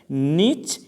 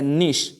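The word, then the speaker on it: niche: Whole का माना होता है सुराख, छेद, और नीसेस ये प्लूरल वर्ड है, इसका सिंगुलर है नीच या निश. दोनों प्रोनाउंसिएशन के साथ आप इसको क्या कहते हैं पढ़ सकते हैं.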